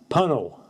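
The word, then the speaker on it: Puncknowle: Should be, sound like tunnel, punnel.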